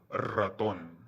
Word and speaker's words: ratón: The R in the beginning of words is often pronounced with rolling R. So, ratón.